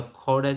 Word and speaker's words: Gouda: I can mention the Gouda cheese. G is pronounced as Kho, Kha and Ha, like hybrid of.